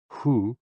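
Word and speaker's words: 呼: HOO, pronounced like hu, which is associated with the spleen.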